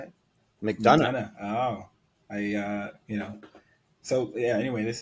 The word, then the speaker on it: McDonough: So this is McDonough, or McDonough. Is that how you say it? McDonough.